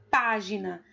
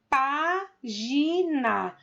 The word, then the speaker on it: página: no exemplo da palavra página. página. A primeira sílaba é o pá, que é uma palavra proparoxítono e por isso é acentuada.